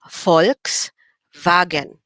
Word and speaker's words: Volkswagen: say it in german if v is pronounced like the letter f then we say folks okay instead of saying